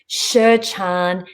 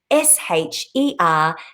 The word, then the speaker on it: Sherchand: Again, that web address is all the W's, Sherchand, Sherchand. I remember the D is silent, but you've got to put it in if you're doing it on the website, .com.